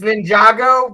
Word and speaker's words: Ninjago: It's Ninjago, but it's spelled Ninja Go.